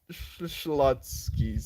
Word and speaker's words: Schlotzsky's: well Schlotzsky's is a sandwich shop and it's pronounced Schlotzsky's thank you thank you Joel thank you so